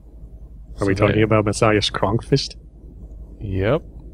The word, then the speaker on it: Kronqvist: Are we talking about Messiah's Kronkfist? Yep. And it's pronounced Kronqvist, by the way.